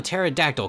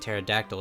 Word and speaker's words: pterodactyl: the vivisaur you know I say p Tara but I guess it's just Tara because the p and pterodactyl is silent I really like Fossil